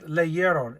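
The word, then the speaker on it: leyeron: to avoid those three vowels together they read leeron l e y e r o n and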